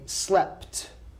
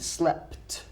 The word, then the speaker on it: slept: the past we say slept notice how I the ending of the verb it's a PT slept but okay so how